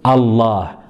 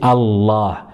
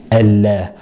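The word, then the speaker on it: الله: Elle sera emphatique de temps en temps, surtout avec le mot Allah. Hein, on dit Allah et on ne dira pas Allah, Allah. On dira Allah.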